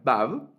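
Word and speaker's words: וו: Entonces, la letra Vav va a representar una V, ¿verdad?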